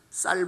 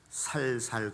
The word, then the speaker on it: 쌀: 경상도가 고향이신 분들은 쌀 발음을 잘 못하신다고 그러죠. 살살 그런다고 그러죠.